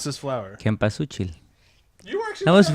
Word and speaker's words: Cempasúchil: pronounce this flower? Cempasúchil.